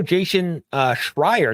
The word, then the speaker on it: Jason Schreier: The official Jason Schreier, that's how you say it, about the failure of yet another live service game is out.